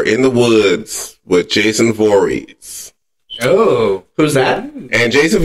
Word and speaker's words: Voorhees: So 2 people are running from Jason Voorhees. Which person Is that how you pronounce it?